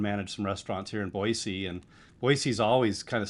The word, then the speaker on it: Boise: And I did say it wrong for the longest time, and I got corrected, reprimanded very harshly that it's no Z in Boise.